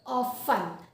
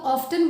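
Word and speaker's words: often: ऑफें इसको पढ़ते हैं ओ एफ टी इ एन इसमें टी साइलेंट होता है तो वी रीडर हम इसे कैसे प्रोनाउंस करते हैं this is pronounced as ऑ फन ठीक है तो ऑफ कई लोग ऑफ्टन बोलते तो भैया बुरा मत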